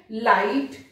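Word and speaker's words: light: कैसे, लाइट, देखिए लाइट में जी एच साइलेंट है, यहां पर आई पहले। हाय, यहां पर जी एच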